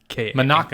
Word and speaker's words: Manaka: Her name's not actually Monica. It's like pronounced something. It's like it's Monica. It's Manaka. Manaka.